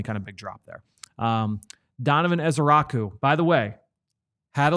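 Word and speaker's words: Donovan Ezeiruaku: Donovan Ezeraku. So, which is much easier to say, by the way. Yeah. Donovan Ezeraku.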